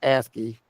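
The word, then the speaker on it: ASCII: so this is where asky ACI I it's pronounced asky they the American Standard code for information exchange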